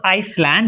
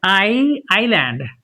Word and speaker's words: island: they say debris and it's not Iceland it is I island and this is It's not asil, it's ale.